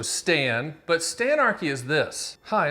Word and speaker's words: Stan: Well, first of all, it helps if your name rhymes with "and," so Stan.